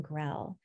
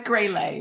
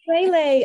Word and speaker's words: Grell: Jen Hoban and Grell. did I pronounce your last name correctly? No, it's Greyley, but that's okay. Greyley. Okay, I was pronouncing it kind of like it were French.